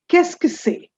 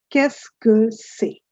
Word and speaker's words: Qu'est-ce que c'est: Qu'est-ce que c'est?